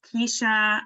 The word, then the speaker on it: Kesha: audience faster for sure let's see casha Kesha is it casha I forget I know we've had this conversation before don't worry it's Kesha I just I don't